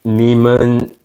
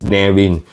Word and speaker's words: Neamhain: the correct pronunciation is nin the M and H is actually pronounced as W it's an Irish name